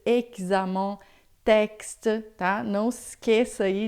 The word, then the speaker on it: examen: Então, todas as vezes que você vê o X em francês, é sempre som de xi, tá? Então, expliquer, exercice, examen, texte, tá?